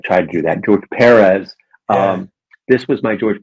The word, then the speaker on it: Pérez: name right I tried to do that George Perez um this was my George Perez um a